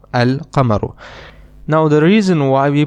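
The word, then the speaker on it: القمر: lamb and in the other noun we do pronounce the lamb we say al kamaru al kamaru now the reason why we pronounce the lamb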